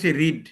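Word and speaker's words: read: লেখলাম subject তারপর ইংরেজি রিড এই রিডের পাস্ট টেন্সে কি হয় একই জিনিস রিড রিড রিড উচ্চারণটা একটু আলাদা আছে রিড রিড রিড বা রেড হ্যা রিড রেড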